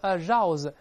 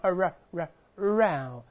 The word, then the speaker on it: arouse: 语拼那个日，不是 arouse，是往回勾，指向喉咙 arouse 这个发音 arouse one's interest， arouse